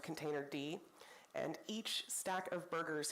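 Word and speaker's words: containerd: Cloud providers default to containered which is actually pronounced container D and each stack of burgers here is a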